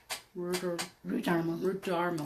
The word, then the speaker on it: Rudarmel: We're visiting today with Kris Rudarmel. Rhymes with Darmel.